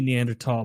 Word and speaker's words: Neanderthal: Yeah, it's supposed to be Neanderthal, but they shouldn't have thrown that H in there if they wanted people to say it right. That's how it That's how it is. It's It's standard tall.